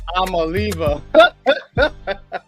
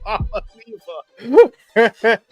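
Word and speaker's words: Iamaleava: How you pronounce his name? I'm leaving. That's what it's saying. I'm leaving. Oh, it looked like that too. I'm a leaver. Nico, I'm a leaver.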